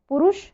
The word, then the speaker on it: पुरुषः: इसका उच्चारण करेंगे, विसर्ग लगा हुआ है तो पुरुषः, ठीक है।